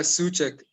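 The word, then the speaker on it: Souček: they're midfielders so check am i pronouncing it right suck yeah that's right yeah suck brilliant midfielder in my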